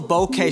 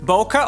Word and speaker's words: bokeh: by noticing the oval bokeh shapes in the background of a shot. Bokeh or bokeh, there's some debate about how you pronounce this word.